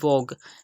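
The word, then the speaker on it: vogue: ई आ गया तो हमने यू एन ई को साइलेंट कर दिया और इसकी प्रोनाउंसिएशन हमने की वोग।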